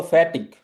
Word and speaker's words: fertig: यहाँ पे एयर बहुत ही लाइट है, सो बोलो फैटिक।